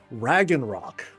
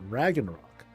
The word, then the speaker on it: Ragnarok: But then the other one was called Ragnok. That's how I pronounced it. Ragnarok.